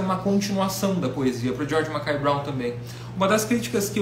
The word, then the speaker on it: George Mackay Brown: O George Mackay Brown, essa é a pronúncia.